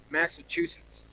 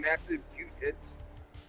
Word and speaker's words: Massachusetts: to finally pronounce it he's saying massive cute hits yeah it sounds like massive shoe shits is what uh it sounds like when karen tries to say it after that session